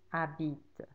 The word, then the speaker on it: habites: Tu habites. You live. And there's a silent S at the end.